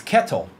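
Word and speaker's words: Ketel: It's Kettle. That's how his name's pronounced.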